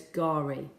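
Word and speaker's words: K'gari: for fraser island so it's called gari but remember it has that silent k at the beginning so it's gari okay question number two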